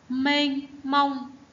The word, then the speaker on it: mênh mông: Mênh mông. Tiếng mênh, các em chú ý vần ên, e nhờ ên. Đọc là mênh mông.